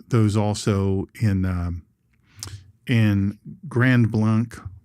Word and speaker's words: Grand Blanc: also in um in Grand Blanc Grand Blank is how they pronounce it.